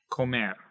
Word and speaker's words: comer: have ko mer and since it is ending with a r right here we're going to emphasize this last syllable right there so it's go man and we say that a little bit louder a little bit higher a little bit longer and it goes up